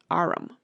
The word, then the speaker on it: arm: He pronounced it arum.